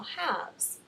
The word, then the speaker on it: halves: with the V and it's a silent l so halves I'm going to go